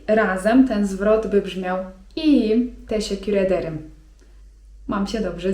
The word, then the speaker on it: iyiyim: I na to możemy odpowiedzieć: iyiyim (czyt. ijijim) 'mam się dobrze' iyiyim (czyt.